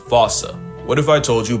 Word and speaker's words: fossa: Because their name comes from the original Malagasy word, and apparently the correct way to say it is Foosha, like foosh with a performance anxiety at the end.